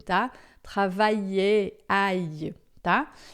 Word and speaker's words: travailler: Quando o L puxar o I para lá, ele se separa do A e aí a gente pronuncia separadamente. Então aqui a gente vai dizer também travailler, por exemplo, né?